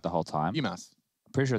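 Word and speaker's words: Bymas: BMAS. I'm pretty sure it's BMAS, yeah. Like, okay, it's like Christmas, but instead of Chris, it's just B. Yeah, I remember because Stryker was explaining it to BMAS.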